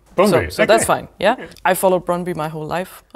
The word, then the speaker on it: Brøndby: So the Danish pronunciation is Brøndby. So that's a bit difficult. Okay, I don't think I could do that. I think you could manage by saying Brøndby. Brøndby, so okay.